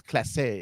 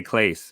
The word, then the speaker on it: Clase: it it sounds almost French because you know you'd say something's Clase it is the number of people who say Clays uh and I I know